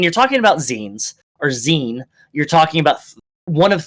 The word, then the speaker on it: zine: Um, but no, it's Zen. It's short for magazine or fan Zen. Yeah. Um there are three different there when you're talking about zi or zen you're talking about one of three different things.